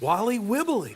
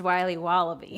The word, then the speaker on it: Wiley Wallaby: Wally Wibbly. Wiley's Wallabies. Wallaby Wallies? Wilby Wobbaby? It's pronounced Wiley Wallaby. Well, it's very good. It's called Wiley Wallaby, and it's delicious.